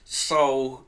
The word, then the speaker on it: Sol: Yes, and Soul, it's spelled S-O-L, but it sounds like Soul from Soul Asylum.